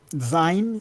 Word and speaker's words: zine: it's zine. Think of it as being short for Zine. Okay. magazine, Okay. Thank you. because they're Um, like little magazines.